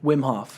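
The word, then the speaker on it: Wim Hof: Wimhof.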